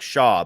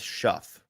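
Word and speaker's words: Shough: times eight different uh it's it looks like Shaw but it's Shuff Shu or no wait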